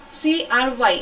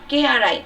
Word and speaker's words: Cry: CRY इसका pronunciation होगा CRY, cry नहीं, CRY, KRI इसका CRY इसका pronunciation आपका रहेगा KRI.